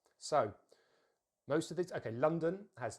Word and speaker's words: London: words, the stress is normally at the beginning of the word. London, London. So let's make sure we a bit of extra stress on the lun. And then what happens usually in the weak syllable is we usually have the schwa sound, the most common sound in English, which is very easy to make. It's a neutral vowel, so the mouth is completely relaxed.